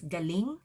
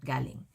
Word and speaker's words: galing: someone please say Ang galing make sure that the stress is on the last syllable otherwise it's going to mean something else so it's galing not galing anging wow awesome Johnny